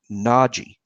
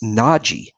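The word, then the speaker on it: Nagy: I think I am that it's pronounced Nagi and I think I got that from people that know him and players who refer to him in interviews it's Nagi I feel really sure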